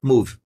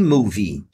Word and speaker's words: movie: Nós temos que pronunciar o som de I em happy e movie. Não é happy move. Happy movie. It's a happy movie. Você tem que articular esse som de I também.